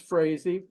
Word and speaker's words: Frazey: My name's Frazey. As stated, it rhymes with crazy, but I'm crazy to see something happen.